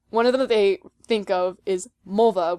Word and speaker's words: Mulva: they think of is mulva which is supposed to rhyme with vulva and then eventually like